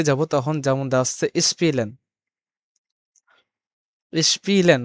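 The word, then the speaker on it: spielen: দেওয়া হচ্ছে স্পিলেন স্পিলেন মানে আপনারা দেখবেন এখানে যে এস প্লাস পে যখন থাকবে তখন তখন কিন্তু আমাদের শব্দটা নিয়ে আসতে হবে কি সপ তালবে সপ বা সপের মত নিয়ে আসতে হবে যেমন স্পিলেন স্প্রাকেন তার যে শব্দগুলো আছে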